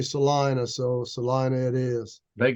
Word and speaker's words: Salina: you have a great they pronounce it Salina but oh is that right yeah you you would think it would be Selena but um I'm not